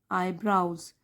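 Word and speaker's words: eyebrows: द man raise his आई ब्राउज तो इसको ब्राउज ऐसे बोलते हैं आईब्रो नहीं आई ब्राउज तो मैन मतलब कि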